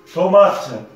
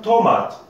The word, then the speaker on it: tomate: Par exemple, tomate, tomate, T-O-M-A-T-E. Seulement, là, nous avons une lettre muette, hein, E. Le E ne se prononce pas, ça s'écrit, mais ne se prononce pas.